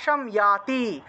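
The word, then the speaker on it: যাতি: উচ্চারণ করতে হয় মৃত্যু ইয়াতি জাতি আছে জাতিকে ইয়াতি উচ্চারণ করতে হবে ইয়াতি মৃতে মুসমৃতে মোক্ষম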